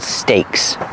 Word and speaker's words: stakes: and these are called Stakes one steak two steaks that's right they're called steaks the same pronunciation as the meat but it's spelled differently these are steaks they